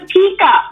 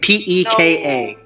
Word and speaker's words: P.E.K.K.A: It's a Pika. It's a Pika. Oh my gosh. Well, okay. Yeah. Tomatoes. All right. P.E.K.K.A. No, you can't even blame this on Canadian and American. You're saying it wrong.